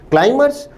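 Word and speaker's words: climbers: शब्द क्लाइमबर में बी को साइलेंट रखा जाता है। क्लाइमर्स कि ये बहुत अच्छे प्लेटफार्म का काम करती है।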